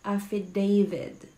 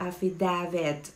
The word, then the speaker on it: affidavit: It's affidavit. Affidavit. Affidavit. Okay? Hindi siya affidavit. Alright? Kagaya sa naririnig ko sa iba, marami akong naririnig na affidavit daw.